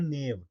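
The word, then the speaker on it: knave: अगला important word है नेव। ठीक है ना? नेव क्या हो जाएगा? के साइलेंट हो जाएगा।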